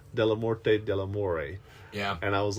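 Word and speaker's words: Dellamorte Dellamore: it came out and we've always said deore delort and it wasn't until this viewing that I heard him pronounce it delort deamore yeah and I was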